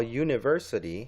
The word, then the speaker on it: university: at this one all University you is definitely a vowel right AEIOU so it looks like we might need an an in front of that but the university is not pronounced with the AEIOU it's actually like a